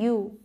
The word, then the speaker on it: ewe: ये जो है EWE, इसे क्या पढ़ते हैं पता है आपको, इसे पढ़ते हैं यू, ओके, इसे भी यू पढ़ते हैं।